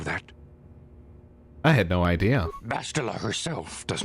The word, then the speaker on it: Bastila: It's pronounced Bastila.